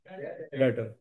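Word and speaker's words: debtor: इसमें बच्चों B silent है। डेप्टर डेप्टर नहीं कहना त ये कौन सा वर्ड है? डेटर।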